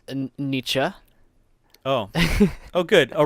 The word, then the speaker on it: Nietzsche: was a bush was e it's called it's pronounced and Nietzsche oh oh good all right yeah we both